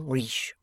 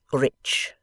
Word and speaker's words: rich: terminate in mong and we pronounce the ch as if they were at before it we say rich reach remarked the foreign